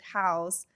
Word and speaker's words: HAOS: It sounds different and it's H A O S we pronounce it House and it's very personal because it's actually the initials of the four of us.